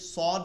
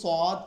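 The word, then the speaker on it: صاد: সারা যেটা আছে সদ এই সদ এবং এই সিন এই দুইটার উচ্চারণ একই রকম শুধুমাত্র সিন হচ্ছে চিকন উচ্চারণ হবে আর এইটা হচ্ছে মোটা উচ্চারণ হবে এটা হচ্ছে হরুফুল ইস্তেলা বা মোটা হরফের অন্তর্ভুক্ত অর্থাৎ যেগুলো মোটা উচ্চারণ হয় সেগুলোর মধ্যে একটা হচ্ছে সদ উচ্চারণ দুইটাই শব্দ আসবে একই শব্দ আসবে সিন সদ এটা শব্দ আসবে কিন্তু মোটা করে বলতে হবে সদ সদ এরপরে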